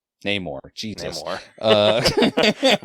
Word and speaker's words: Namor: I want to say NORAD. What is his name? Namor.